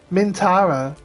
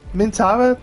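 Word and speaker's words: Minthara: Mintara. Mintara. There's But there's a H in there, isn't there? We don't pronounce the H.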